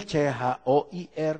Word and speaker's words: choir: oh booking Lalu ada yang nyumbang sangkur tulisnya c h o i r bacanya Choir dia yang harus berterima kasih terima kasih